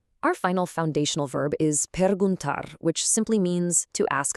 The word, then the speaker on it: perguntar: Per gun tar. Really emphasize that last syllable. Per gun tar.